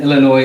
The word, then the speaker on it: Illinois: right Stacy Says for the record the Essen Illinois is silent now see Stacey I already knew that